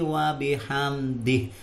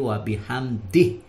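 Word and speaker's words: وبحمده: bacanya Subhana rabbiyal adzimi wabihamdih disini pakai Haya Bukan wabihamdi tapi wabihamdih wabihamdihi begitu tulisannya kemudian bacanya wabihamdih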